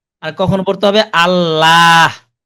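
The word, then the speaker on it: الله: ওইটা মূলত জি, জি, আল্লাহ চিকন করে পড়া হয়, মানে বারিক হয়, বারিক হয়।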